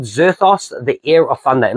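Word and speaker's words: Vzerthos: It's called Zerthos, the Heir of Thunder. At least I'm thinking it's Zerthos. It's got a V-Z-E-R-T-H-O-S. I'm pretty sure the V is silent, unless it's the Zerthos, which is nearly impossible.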